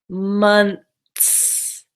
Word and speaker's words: months: not gonna say months the trick for this word is to pronounce it like months months so it sounds like M u n t s M UMTS months months